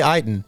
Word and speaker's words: Ayton: i bet he's heightened i always mispronounced i was like i was like you should just say ayden yeah it is my bad it looks like it's hayden but man he hooped